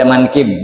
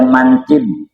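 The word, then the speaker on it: مَنْكِب: walhtin wal ya tahtiah kata-kata manqib di sini dituntun bacanya manqib dengan fathah mim ma wal kaf kasril kaf kafnya kasrah ya kemudian wal bail mu muahadah dengan ba yang bertitik satu.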